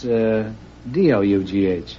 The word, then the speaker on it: dough: How do you pronounce D-O-U-G-H?